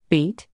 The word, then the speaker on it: BEET: looking at beat jigs beat like in Tim Tackle Box beat nope beat is spelled be t and it stands for big eye easy tie they're not talking about